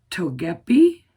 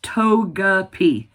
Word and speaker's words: Togepi: last time, but I had about four people tell me it is I'm probably still going to say it wrong. Togeep. It's Togeapi. I got it.